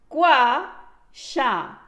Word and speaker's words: Gua Sha: Gua Sha is pronounced Gua Sha.